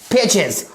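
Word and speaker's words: pages: एस जोड़ देने से उसकी साउंड यानी उसकी प्रोनाउंसिएशन क्या हो जाती है, एग्स हो जाती है, P-A-G-E-S, पेजेस।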